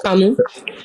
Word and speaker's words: Camus: I don't think it's pronounced Camus. I think it's pronounced Camus. It's Camus.